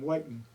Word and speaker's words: Whitin: And became Whiten. But when you look at it, people if you're not from town, you looks it looks to you like Whitten. Yeah. If somebody says it that way, you know that they're not from around here.